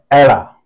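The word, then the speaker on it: ਐੜਾ: ये एड़ा है, पंजाबी में इसे एड़ा कहते हैं और इसका उच्चारण आ का है।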